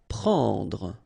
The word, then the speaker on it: prendre: Prendre, okay, remember combination of and n, it's what we call nasal, so it goes in your nose and it's en, prendre, okay, don't insist on the final Trouver.